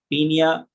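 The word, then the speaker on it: Paeonia: और ये देखिए, सबसे पहली चीज मैं आपको एक्सप्लेन करने वाले हूँ, पियोनिया जैपोनिका, या इसको हम शॉर्ट फॉर्म में बोलते हैं पीनिया, ओ साइलेंट, पीनिया जैपोनिका।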